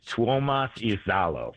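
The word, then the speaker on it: Tuomas Iisalo: Yeah, it's Tuomas Izalo.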